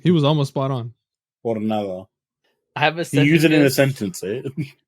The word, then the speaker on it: Jornada: I know we don't pronounce H's, but I was just curious. Bro, this ain't Hornitos, bitch. All right, move on. It's Hornitos way Jornada. I gave you a clue.